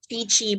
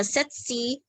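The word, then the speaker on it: tsetse: Pwede man siya setsi, chichi, or setsi, or tetsi. Diba? Pili as mo ganahan magbasa. Silent S, silent T ang sinugdanan, or diwalay silent, kapag na-American English nga, chichi. Kaya pwede man na setsi, pwede sa tetsi.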